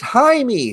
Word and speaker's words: Jaime: canary so let's get with that uh it's pronounced hi me thank you shane aspen yes i've had a lot of messages that i said his name wrong and i agree his name is actually jaime reyes and the blue beetle so thank you